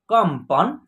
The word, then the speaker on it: कंपन: शब्दों को पहले देखिए, क के ऊपर एक बिंदी है, यहाँ आधा म का उच्चारण होगा, कम। उसके बाद प, न, एक साथ आप पढ़िए, कंपन, ठीक है।